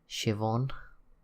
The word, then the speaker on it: Siobhan: a nice sports car there's another one here siobhan I know why they thought the spell it like that that is Siobhan if you